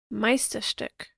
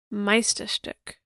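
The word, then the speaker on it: Meisterstück: translates into masterpiece here's how to say it Meister stick Meister stick meisterstuck it sounds so lovely when she says I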